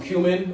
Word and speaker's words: cumin: for that you got some cumin or coming depending on where you're from and how you pronounce it i learned recently that you can pronounce it both ways so don't let anybody